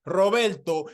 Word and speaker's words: Roberto: trouble saying my name my name is Roberto and yes you do gotta roll the R's but for those of